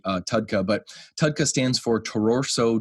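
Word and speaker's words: TUDCA: in capitalized letters technically it's supposed to be tadka uh some people say tudka you can go back and forth on how you want to pronounce it I like to say uh tadka but tadka stands for tauroso deoxycolic acid and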